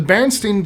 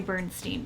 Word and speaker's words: Berenstain: I always say Berenstain Bears. I think it's kind of how you pronounce it. Like, it's, even Berenstain is stain, still comes out steen.